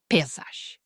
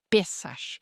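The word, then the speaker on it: Pesach: Em hebraico, eles pronunciam como Páscoa. Eles meio que engolem o ch, mas você ouvirá pessoas inglesas que a pronunciam Pessag.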